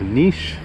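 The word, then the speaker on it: Niš: will be a video of niche which is spelled NIS that is a city south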